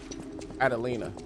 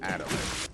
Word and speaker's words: Adelina: I think it's how you say her name. Adelina, my bad. I said Adelaide.